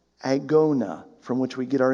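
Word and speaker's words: ἀγῶνα: for our english word race is a word pronounced agona from which we get our english word agony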